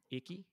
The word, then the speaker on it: Ikigai: Ikigai. Laura, is that the correct pronunciation?